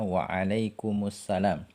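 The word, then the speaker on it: وَعَلَيْكُمُ السَّلَام: Seperti misalnya di sini dicontohkan pada ucapan salam, misalnya wa'alaikumussalam. Asalnya kan wa'alaikum kemudian assalam. Ya, kalau kita membaca terpisah wa'alaikum dan assalam. Tapi kalau kita membaca bersambung maka huruf mimnya kita ubah menjadi harokat dhammah.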